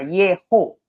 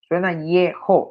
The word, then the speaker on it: Yeho: Dios está al principio, Yehonatán, oigan cómo suena, Yeho, suena así, cuando está al principio, suena Yeho, así suena.